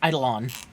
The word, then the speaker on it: eidolon: idolans you couldn't tell never call them Idol ones ever again too bad it's eidolon okay Idol on excuse me